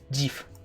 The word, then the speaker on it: GIF: GIF. The only proper pronunciation where you may say Jif is for Jif peanut butter or Jiffy Lube, but that is it. Anything else to say Jif, I you will are follow Sam into battle.